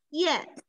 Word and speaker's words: 燕: ，哎呀，燕是一个多音字，那它有两种读音，一个是我们说叫燕，是我们认识的小燕子的形象，对吧？那还有一个读音是燕，那燕在这里是一个地名，是燕山，是给大